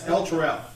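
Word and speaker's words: Elturel: Rhea Mantlemorn was one of the Hell Riders from a city called Illustrial? I can't remember how to say it. Illustrial. El Terrell. That's what it is.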